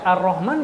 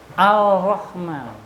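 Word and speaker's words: الرحمن: awas itu penyebab tasdid seumpama kita enggak pernah tahu alif lam syamsiah maka baca arahman bakal apaan bacanya alrahman bakal alrahman Ketika seseorang lagi baca bismillahnya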